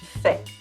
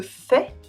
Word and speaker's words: fait: Le fait Outside of Au fait and En fait, the t is silent and le fait / un fait has a different meaning : a fact.